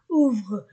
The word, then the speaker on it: ouvrent: Dit Monsieur Legrand, Hélène et Pierre ouvrent, OUU, la terminaison ne se prononce pas, ouvrent de grands, ANA, grands yeux, S entre deux voyelles, grands yeux.